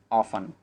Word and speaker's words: orphan: देखिए यहाँ हम जो प्रोनाउंस करेंगे ORPHAN को वो ऑफन बोलेंगे, क्योंकि यहाँ पे आर साइलेंट है। इंग्लिश का एक ये भी रूल है कि जब भी अगर आर के बाद कोई कॉन्सोनेंट वर्ड आ जाए तो हम आर को प्रोनाउंस नहीं करते हैं, ठीक है। तो क्या होगा हमारा करेक्ट प्रोनाउंसिएशन, ऑफन होगा, ठीक है, हम ध्यान रखें।